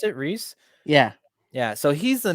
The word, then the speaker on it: Rhys: name taika what TT's in it and um Rife no Ralph it's I don't know how to pronounce his first name Rhys Darby yeah yeah is that how you pronounce it Rhys yeah yeah so he's the main guy and